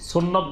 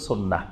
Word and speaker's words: সুন্নাহ: সুন্নত বললে সবাই চিনে। সুন্নাহ বললে আবার অনেকে নাও চিনতে পারে। সাধারণ মানুষ। তো এজন্য বেশি পরিচিত আমাদের দেশের সুন্নত নামে। কিন্তু এটা শুদ্ধ আরবি উচ্চারণ হল সুন্নাহ।